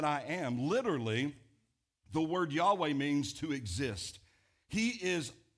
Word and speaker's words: Yahweh: up four Hebrew letters, and then we've put the vowels in there so that we're able to pronounce it a little better, and we can pronounce it Yahweh.